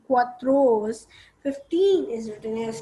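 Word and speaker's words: quatorze: q u a t o r z e quatros 15 is written as q u i n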